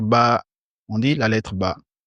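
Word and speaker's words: باء: Vous avez constaté ici sur le A, on a mis un chapeau. C'est pour dire qu'il faut tirer légèrement. On ne dit pas la lettre Ba, on dit la lettre Ba.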